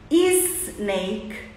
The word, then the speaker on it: snake: Esporte smile Stone Smartphone e não é tá errado quando a gente coloca um é um I antes de palavras que começam com s nós estamos em inglês pronunciando errado Esporte a gente coloca